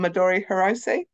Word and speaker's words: Midori Hirose: This is the cherry sweater from Midori Hirose.